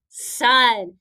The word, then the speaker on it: son: last trick word is this word rhymes with one son remember this is also